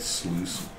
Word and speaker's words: sluice: that sluice was spelled like juice.